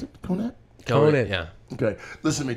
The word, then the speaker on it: Conant: Is that how you pronounce it? Conant? Conant.